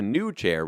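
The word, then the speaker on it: PneuChair: The new chair, which is spelled PNEU and then chair, like pneumatic, the new chair, a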